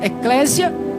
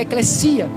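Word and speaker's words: ἐκκλησία: do substantivo composto grego eclesia, o que alguns pronunciam eclésia, devido ao português, às vezes o s ter som de Z, mas a pronúncia correta no grego, no grego é eclesia, que por sua vez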